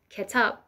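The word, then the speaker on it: کتاب: Book in Arabic is kitab, in Persian is ketab.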